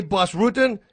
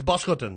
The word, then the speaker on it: Bas Rutten: I go like, guys, if you say Bas Rutten, you messed up my name. You butchered my name. Right. It's Bas Rutten.